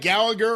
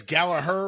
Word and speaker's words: Gallagher: about this I like Jack Gallagher or I guess gallaer we're supposed to pronounce it as when he was in